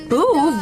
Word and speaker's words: Boov: Boov rhymes with groove.